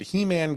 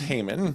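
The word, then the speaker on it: Heman: brother, a man named He-Man Gibbs. Uh Oh my goodness. It may be pronounced Hmon. No, it's not. Actually, I looked it up. It's absolutely not.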